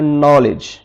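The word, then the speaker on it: knowledge: यह लिखा हुआ है नॉलेज यहां पर दी पहले ए गया है वहां पर दी की आवाज़ खामोश हो जाएगी साइलेंट हो जाएगी हमने इसको पढ़ना है नॉलेज है और इसी तरह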